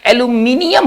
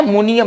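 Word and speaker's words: aluminium: उसका सही उच्चारण पर हमें ध्यान देना होगा। एल्यूमिनियम होता है, मुनियम नहीं होता है।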